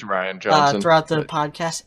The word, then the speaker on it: Rian: probably gonna go back and forth on the pronunciation it's Ryan brought to the podcast it's spelt like Ryan though huh well it's not spelt like rain it's definitely not rain Johnson I've heard someone say that before I